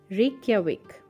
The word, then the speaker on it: Reykjavik: God people have so much problem remembering its pronunciation so it is Reykjavik famous for its rugged Landscapes and scenery Northern